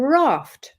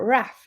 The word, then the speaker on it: raft: It can also be when it ends with 'ft' so for example: raft not raft or raft I say and they in the north they would say raft, you would also say